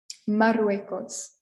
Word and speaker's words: Marruecos: Morocco in Spanish is Marruecos. Marruecos. Soy de Marruecos. I'm from Morocco. Marruecos. The double R is a little longer than our single R we had in Turquía and South Africa and Democrática.